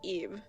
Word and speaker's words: Ib: Or Ib, or yeah, it's supposed to be pronounced Ib.